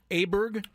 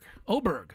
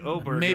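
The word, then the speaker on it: Åberg: hopefully they'll get going here shortly uh ludvig aberer I found out I've been pronouncing his name wrong uh ludvig oh Berg oberg yes thank you SC how did you find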